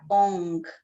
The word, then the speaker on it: Ong: Aí a gente vai experimentar fazer esse mantra ONG. A gente não pronuncia o G, é só para mostrar o movimento que a língua faz.